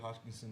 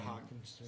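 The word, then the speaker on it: Hockenson: We I'm still got TJ Hopkinson there, say his name. Yeah, Hawkinson.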